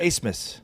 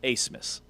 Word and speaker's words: Abmas: Abmas is how it's spelled but it's not actually that. I can't remember how you say it. Amus. Amus.